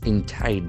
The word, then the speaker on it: indict: Here the letter I has got I defthong. Indict. Indite. There are two syllables.